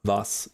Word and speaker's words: was: Wir, vi, was. Yes. Okay. Like, yeah, that's all that too. I do know that the W makes a V sound, so it's like wir, vi, was, not like we're like what was it?